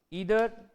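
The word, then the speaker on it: either: तो therefore I request you ईदर टू भी बोल सकते हैं, आइदर टू भी बोल सकते हैं, दोनों ही प्रोनाउंसिएशन ठीक है।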